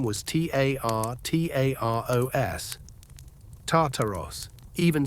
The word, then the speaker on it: Tartaros: Harsh sounds, sharp syllables, like a dark rumbling, a deep groan.